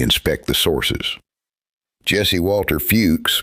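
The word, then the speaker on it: Fewkes: Jesse Walter Fuchs, pronounced Fuchs, recorded Hopi traditions during the late 19th century.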